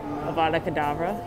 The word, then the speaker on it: Avada Kedavra: It rhymes with abracadabra. Kinda, but it's much scarier. Avada Kedavra.